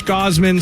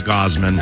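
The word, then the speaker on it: Gausman: cup of cof mowman Gosman SL uh yeah however you say it and Lopez it's Gosman I think it is too I watched highlights last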